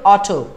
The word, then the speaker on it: ought: इसको क्या प्रोनाउंस करोगे ऑटो. बोलिए हे ऑटो ऑटो रिक्शा भैया ऑटो रिक्शा वाले भैया इधर आओ. जैसे अपन ऑटो बुलाते हैं ना वैसे इसको बोलो ऑटो ऑटो ऐसे बोलना है.